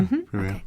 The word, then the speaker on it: previa: Yeah, there's a lot that a woman's doctor can advise her about if she's got, I never pronounce this right, perhaps you can help me, placenta previa? Yeah, previa.